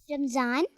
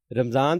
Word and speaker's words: رمضان: ہے یا رمضان ہے۔ جی رمضان ہے، میم کے اوپر زبر ہے، جزم نہیں ہے، اس لیے اب آئندہ سے آپ نے اس کو رمضان بولنا ہے۔ تو جی بچوں اب